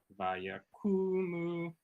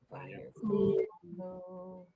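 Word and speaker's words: ויקמו: So it's like a double emphasis. Vayakumu. Right? And basically you're going up on those syllables. Vayakumu. So it's the same note for Yeah. both. Yeah. Vayakumu.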